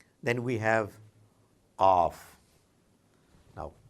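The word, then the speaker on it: قاف: Qaf is not K, and maybe I'm wrong, but Q and K, they sound very similar in English, but in Arabic there is a very unique sound coming for Qaf, like in the case of Ain, coming somewhere from deep inside your throat. You've got to listen to it carefully and practice it and listen to it from some Arab brother or sister. Qaf.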